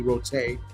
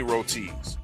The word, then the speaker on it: roti: And I heard KG pronounce roti, rote.